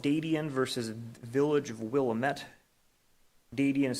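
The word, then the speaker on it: Wilmette: is a case called dating versus Village of Willamette Davion is spelled d-a-d-i-a-n Willamette as w-i-l-m-e-t-t-e if you want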